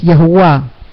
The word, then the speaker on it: Yahua: Jeremías 36 dice, "En los días de Josías, Josías era un rey, dice, Yahweh me preguntó, aún no me acostumbro a la pronunciación que realmente debemos tener, que es Yahua."